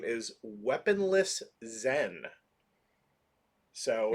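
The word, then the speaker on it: Zsen: of a new character whose name is weaponless zen so it's spelled not zen like it's spelled close with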